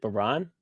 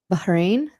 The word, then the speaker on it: Bahrain: US State Department issues a shelter in place order for all Americans in how do you pronounce it? Banan. Bahrain.